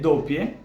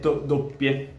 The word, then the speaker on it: doppia: "Doppia", alright? I stopped for a split second longer on that P and istead of saying "dopia" I said doppia.